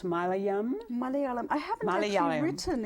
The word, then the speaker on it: Malayalam: And while you have written various things in French, Hindi, pronounced Malayalam? Malayalam.